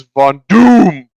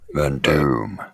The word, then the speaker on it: Von Doom: No, you're saying it wrong. It's Von Doom. Van Doom.